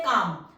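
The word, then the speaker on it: calm: है जैसे वर्ड है काम देखो के काम पहले कौन सी साउंड आ रही है के स्ट्रोक की साउंड आ रही है उसके बाद आ एल तो हमारा साइलेंट है तो एल को हम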